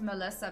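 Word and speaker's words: Milica: pale person so she my real name is Melissa but it's spelled m-i-l-i-c-a welcome to perfect mobile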